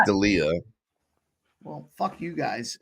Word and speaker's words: Delija: Delija? Ante Delija. Yeah, I got it. Sorry, I actually think it's pronounced Delia.